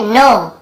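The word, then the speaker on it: knee: नो, इसे नाउ नहीं पढ़ेंगे, ठीक है, नो, नो भी नहीं, नो यानी जानने वाला नो है।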